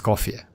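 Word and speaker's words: Escoffier: Scofier.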